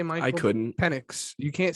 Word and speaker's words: Penix: You have to properly pronounce it. Penix.